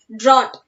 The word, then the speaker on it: drought: Here GH are silent. So we have to pronounce this word as drought.